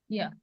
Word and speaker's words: year: The word EAR starts with a vowel sound, while YEAR starts with a consonant sound. Yeah, yeah.